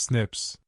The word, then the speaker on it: SNP: through what scientists call single nucleotide polymorphisms or SNPs pronounced snips.